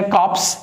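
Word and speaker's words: corps: Same pronunciation है, कॉप्स, division of army, और ये भी क्या है, कॉप्स, लेकिन इसमें ई लास्ट में आता है।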